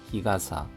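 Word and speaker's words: 日傘: 마바라문드문함 마바라데 드문드문하고 아루이르 걷고 있는 히드와 사람은 희가사야 히가사 히가사 하면은 양산이 되겠습니다. 가사가 가사로 발음이 바뀌었습니다.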